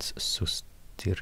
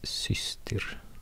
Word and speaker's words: systir: So it's not sustir, it's systir.